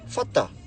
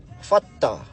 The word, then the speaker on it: whata: And then the last part is whata. You know, like you pronounce the WH like how you pronounce the word phone or telephone.